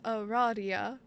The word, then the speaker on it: Aradia: It's pronounced Aradia.